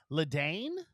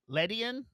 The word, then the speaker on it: Ledian: Pokemon 166 is Ledane. It is a 4-foot. Am I mispronouncing that? Yeah, it's like a 4-foot flying ladybug. Ledian. Oh, like median, but Ledian.